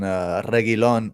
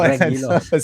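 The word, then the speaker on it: Reguilón: Yeah, if we're saying like nobody's gonna keep a clean sheet, then Reguilon, that the U is silent, by the way. Pretend the U doesn't exist.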